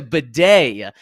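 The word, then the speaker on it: Badie: that's not his name he changed the pronun pronunciation of his name last week to Beday so yes Tyler Beday took over for the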